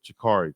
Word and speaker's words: Shakari: Pronounce it like that. Shakari. Shakari. Kind of like a J.